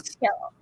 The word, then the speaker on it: Khail: Khail. Kale is not spelled like the cruciferous, cruciferous vegetable. It is kale, Khail.